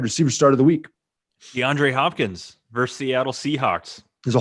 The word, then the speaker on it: DeAndre Hopkins: I just want to point out that you mispronounced his name. Oh, did I? It's future Hall of Famer DeAndre Hopkins.